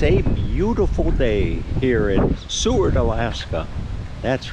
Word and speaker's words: Seward: this little town called Seward I hope I'm pronouncing that right that's how can you not pronounce it right s-e-w-a-r-d Seward but uh anyway I'm going